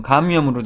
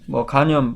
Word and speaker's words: 감염: 그리고 이제 만성 감염으로 되어 있는데요. 여기서 말하는 감염은 간염 발음이 비슷한데 간이 아니고요. 감염, 인펙션입니다.